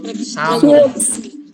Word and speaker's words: sum: S itu sam. Ya dibacanya sam ya, ditulisnya sum. Dibacanya sam dalam bahasa Inggris.